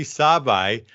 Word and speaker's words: Sabaj: And you pronounce that like the car, Saab with an I. Sabaj.